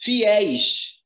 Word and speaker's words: fiéis: Fiéis. A sílaba mais forte é a última. É uma oxítona.